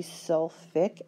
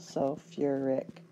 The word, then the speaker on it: sulfuric: I go from Su you would think that it should be sulfi acid I guess somebody thought that sounded funny so they put in another syllable sulfuric acid but again as long